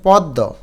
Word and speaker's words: পদ্য: আদ্য অ এর পর জফলা যুক্ত ব্যঞ্জন বর্ণ থাকলে অ এর উচ্চারণ ওকারের মত হয়।